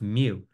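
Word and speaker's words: μ: to use it all semester long it's it's pronounced me it's a Greek M it looks like a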